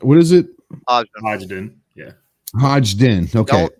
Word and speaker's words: Hodgdon: Hodgdon. Okay. Don't pronounce the first D. The first D is silent, basically. Yeah. It's not Hodgdon.